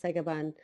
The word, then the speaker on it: Sagabun: are many different uh ways to spell psychobun pronounce sega bun and you could even spell it increase the